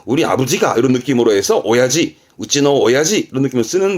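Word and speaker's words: 親父: 이때 발음 바뀝니다. 이때는 오야지. 들어보셨? 오야지? 편한 친구들 사이에, 편한 사람들 사이에 우리 아빠가, 우리 아버지가 이런 느낌으로 해서 오야지, 우찌노 오야지 이런 느낌을 쓰는 부분도 있습니다만 편한 사람끼리 씁니다.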